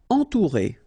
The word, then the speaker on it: entourer: Entourer. Okay, nasal, en, then O and U together, ou.